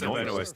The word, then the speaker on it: Benoist: Damn, is that how you pronounce it? I never would have Melissa Benoist.